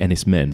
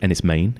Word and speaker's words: Enys Men: I've been calling it Ennis men but I've been told it's Ennis Maine is that right yeah pronounced m-a-n-e okay all right so